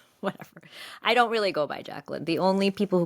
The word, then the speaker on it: Jacqueline: I spell it the French way. You know, not saying I'm better than her or anything. So I'm not actually Jacqueline. I'm Jacqueline. Jacqueline or Jacqueline in French.